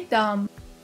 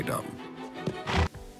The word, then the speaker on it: dumb: Play dumb. Notice that B is silent here. Let's watch. Go, return to your stables. If anyone asks, play dumb. Play dumb.